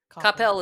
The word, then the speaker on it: Coppell: Rome wasn't built in a day, and we're not going to tear down Coppell Band in a day. What is the correct pronunciation of the school you work at?